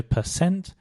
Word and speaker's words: percent: The first thing to mention is that for both percent and percentage, the stress is on the cent, so percent and percentage.